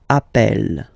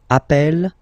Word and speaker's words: appelle: You tend to pronounce it like E, E, really open. That's the reason why you pronounce it appel, appel, okay? Appel, appel, appel, and appel.